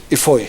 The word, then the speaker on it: Ibui: the proceedings, Titus Ibui, the correct pronunciation is Ibui. Ifoi. Ifoi, yeah. Ifoi, the B becomes an F.